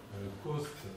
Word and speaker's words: Coste: Coste, alors C-O-S-T-E. Ok, comme ça se prononce.